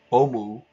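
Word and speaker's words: オウム: Omu, and that is how the Japanese would pronounce the name of the movement, Om Shinrikyo or Omu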